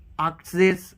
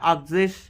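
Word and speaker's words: achtzig: आक्जिश ये सेम रहता है, आक्जिश 90 को नॉइजिश एंड 100 को आइन हुंडर्ड भी कह सकते हैं, बट आइन हुंडर्ड ज़्यादा अच्छा रहता है।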